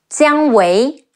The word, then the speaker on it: Jiang Wei: Ang Cang, Zhou Cang, Jiang Wei, Ji Yi Ang Jiang, Wu Ei Wei, Jiang Wei, Ma Dai, Me A